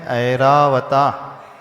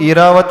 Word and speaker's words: ऐरावत: हीरा बता नहीं है ऐरावत ऐरावत आई के ऊपर मात्रा है और यहां कुछ लोग एरा वत बोल देते हैं कुछ लोग ऐरावत बोल देते दोनों ही